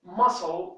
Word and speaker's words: muscle: Okay, example, muscle here, look here, what do we have? We have S. So the sound C here is not pronounced.